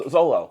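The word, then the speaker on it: Xolo: And So I said, go with the pronunciation of X, which is Z, because that's what it sounds like. Right. Xylophone starts with an X. Right. But it's pronounced Z.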